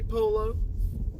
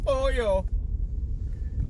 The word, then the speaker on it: pollo: Yeah, I'm gonna say polo. Yeah, my wife gets on to me for not saying pollo. My wife gets on to me when I pronounce it wrong.